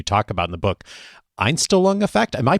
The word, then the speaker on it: Einstellung: Einstellung effect. Am I pronouncing that correctly? That's right. Yeah, the Einstellung effect.